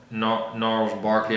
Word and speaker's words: Gnarls Barkley: 15 is Crazy, Gnarls Barkley, I believe the G is silent.